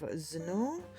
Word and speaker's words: Zennor: with more mermaid of zenor rhymes with Lenor we found this out